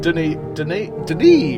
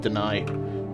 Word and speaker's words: Denis: Lead programmer and Denis, apparently is how you pronounce it. I always went with Deny.